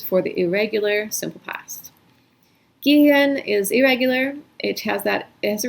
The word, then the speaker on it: gehen: So not only are you have vowel change that basically the EH works as one vowel because the H is only there to make that vowel long, but then you get like this extra NG situation, which is very unexpected.